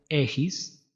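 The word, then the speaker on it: ἔχεις: es is notemos aquí la transliteración es echis se pronuncia ejis y la traducción es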